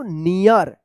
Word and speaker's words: near: जब रूल्स में हम बताए थे कि EA के बाद अगर लास्ट में R रहता है तो इस EA का ईया उच्चारण होता है, तो क्या पढ़ेंगे इसको? नियर।